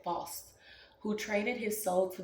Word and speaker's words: Faust: term comes from the Legend of false which almost sounds like false but it's f-a-u-s-t so I think it's how you say it false who traded his soul